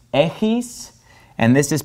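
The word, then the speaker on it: έχεις: This word is pronounced echis, and this is pronounced echete.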